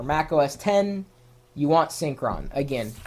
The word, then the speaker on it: Synkron: a file, a program, a utility called Syncron, and you spell that Synkron.